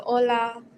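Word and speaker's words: hola: like an h and the funny thing is is that the H is silent we don't ever use it so um so Ola oi you just are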